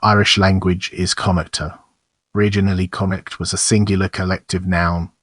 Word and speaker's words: Connacht: The usual English spelling in Ireland since the Gaelic revival is conict, the spelling of the dissist Irish singular.